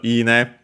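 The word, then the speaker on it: 稲: If we check out ine, accent on the first mora, which is that one is for rice plant specifically, uses usually another kanji.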